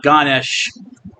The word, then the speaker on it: Ganesha: with an elephant head sometimes spelled with an a at the end I think the a is silent so you could say Ganesha but it's usually ganes anyway it's very popular